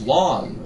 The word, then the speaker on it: Lon: His name is Lon, which rhymes with John, who is soon to be gone.